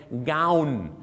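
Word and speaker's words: gown: ครับ ฝรั่ง เ จะ เรียก ว่า g o wn เา เา นะ เหมือน กาว เหมือน กาว ที่ เอา มา ทา นะ ครับ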